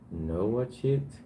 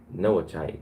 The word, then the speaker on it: Noachite: Noah Chit of Prussian Knight? Noachite. That's how they say it, Noachite. I was like, Noah Chit? Like, what is that?